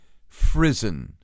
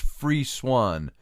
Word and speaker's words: frisson: ever felt this you've experienced a phenomenon called frizzen and that's Fri sson frisson and it's pronounced it's actually pronounced free Swan free Swan is the way they pronounce it